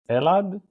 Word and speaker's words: Elad: do you say your last name elad that's elad elad and my last name is